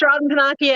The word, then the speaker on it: Robyn Pennacchia: say her name and then say she can pronounce my very difficult oh okay my name is robin panakia and that i you guys don't need to